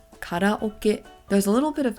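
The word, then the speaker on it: カラオケ: have everyone's favorite karaoke in Japanese we pronounce this as karaoke there's a little bit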